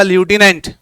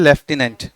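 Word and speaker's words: lieutenant: फर्क इतना है, अमेरिकन इंग्लिश और ब्रिटिश इंग्लिश। प्रोनाउंसिएशन बनेगा इसका ल्यूटिनेंट, और ब्रिटिशर्स के हिसाब से स्पेलिंग यही होती है और उसको बोलते हैं लेफ्टिनेंट।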